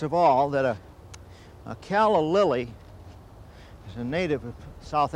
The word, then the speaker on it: calla lily: should say first of all that a a caly is a native of South Africa and growing